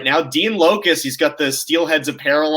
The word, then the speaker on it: Loukus: So the proper pronunciation is Loukus, ladies and gentlemen.